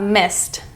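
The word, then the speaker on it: missed: next up we have Mist Mist this is because the root word ends in s Mist the ending is a t sound next up we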